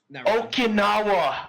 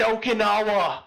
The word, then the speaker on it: Okinawa: okawana was oh wait you mean like the Okinawa I said okanawa why did you pronounce it that way knowe words I thought